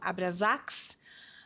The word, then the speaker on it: Abraxas: o tipo que os abraxas a casa dos abraxas às vezes eles pronunciam abrasax né independente da pronúncia mas aqui em português nós vamos falar ab a b r a x a s e é o maior